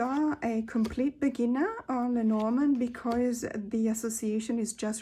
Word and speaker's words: Lenormand: I keep on saying Lenormand because that's the English way of pronouncing it, but it's actually Lenormand because it's a French system.